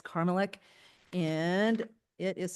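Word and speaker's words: Karmelek: Okay, so, last name is not Carmela, it's Carmelek.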